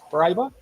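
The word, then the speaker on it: Paraíba: How do you pronounce that, Jason? Paraiba? That's right. cool. Paribia?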